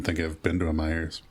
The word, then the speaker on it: Meijer: I don't think I've been to a Myers. Oh, it's like Meijer. That's like a Yeah, it's spelled weird.